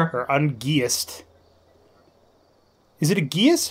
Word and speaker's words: geas: Is it a geas? How do you pronounce it? Geas. Gather your party before venturing forth. Kind of like gay ass, but less enticing.